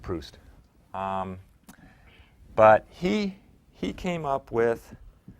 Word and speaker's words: Proust: I think it's pronounced Proust.